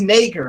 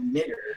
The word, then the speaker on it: Schwarzenegger: Wait, so it's pronounced Nager, right? Not nigger. It's Nager.